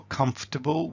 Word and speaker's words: comfortable: So for comfortable we can do something like: "comfortable" Where we